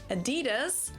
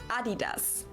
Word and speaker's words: Adidas: were referring to because they usually pronounce it Adidas. And in Germany, we say Adidas. Adidas. Adidas. Super different.